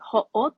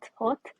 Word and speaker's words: Haute: just like the name I don't think I pronounced it right but like hot hot um yeah it means high in French and then the I